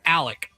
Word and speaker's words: Alec: But it's Alec. Oh, Alec Murdaugh. He doesn't even know it's an X. Yes, A L E X, but he goes by Alec Murdaugh. Alec Alec Murdaugh.